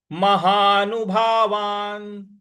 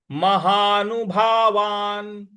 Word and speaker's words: महानुभावान्: छोटी की मात्रा ही, महानुभावान। महानुभावान, महानु न पर छोटे ऊ की मात्रा है, भावा, और जो न है इस पर न जो है हमको साइलेंट में बोलना है क्योंकि इसके नीचे हलंत है।